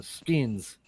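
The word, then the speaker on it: sgian: uh call them uh we call them uh skins boot knife it's called a skin it's spelled s g i a n and it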